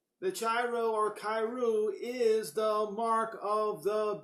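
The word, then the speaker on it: Chi-Rho: on this particular subject now we all say tyro but in fact is pronounced khayru it is known also known as Chrisman that's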